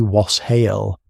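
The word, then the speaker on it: wes hāl: Communities across England practiced something called wassailing, a custom reaching back to an old Anglo-Saxon greeting pronounced roughly was hael, meaning simply be well or be in good health.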